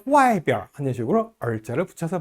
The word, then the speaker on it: 外边: 비엔자가 원래는 제1성인데요. 지시사라든지 방향을 나타내는 낱말 뒤에 오는 비엔자는 약하게 경성으로 발음합니다. 여기, 이쪽 할 때요. 这边, 저쪽, 那边, 어느 쪽 하면 那边, 안쪽, 里边, 바깥쪽, 外边, 오른쪽, 右边, 왼쪽, 左边 이렇게 발음해요.